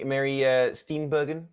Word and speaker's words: Mary Steenburgen: And Mary Steenburgen, is that how you pronounce it? Steenburgen, yeah.